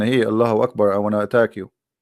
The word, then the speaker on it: Allahu Akbar: So when a Muslim he says Allah, you notice he pronounced something. He say Hu Akbar, correct? Hu Akbar. But when they say it, but they don't write it. Hu Akbar. Allahu Akbar.